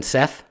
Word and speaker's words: Seth: storms, violence, and disorder, whose name is pronounced Set, but spelled like Seth.